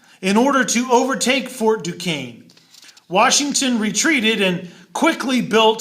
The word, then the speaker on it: Duquesne: up is called Fort Duquesne that word is pronounced Duquesne now Washington launched a surprise attack in order to overtake Fort Duquesne Washington retreated and quickly built Fort Necessity hoping